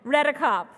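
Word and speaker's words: Redekop: I said it wrong. Redicop.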